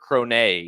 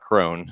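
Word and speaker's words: Krone: race uh or not Jasper cron that's right it's not Crone I've been saying it wrong for a long time but I cron insanely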